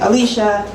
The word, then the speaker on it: Alysha: is Alicia uh I I pronounce it Alicia and um it's spelled a l y s h you know like dreams